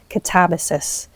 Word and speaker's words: Katabasis: Well, she wrote Katabasis. I need to remind myself how to say it. Well, she doesn't take umbrage on how people say it, but that's how she says Katabasis, which I think is